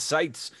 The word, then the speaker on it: Sietz: joined here in the virtual studio with david sites and i'm probably mispronouncing that uh am i close oh you